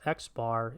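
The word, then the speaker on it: x̄: So this X with a line over it, pronounced X bar, is the mean.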